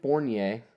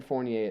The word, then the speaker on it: Fournier: Evan Fournier.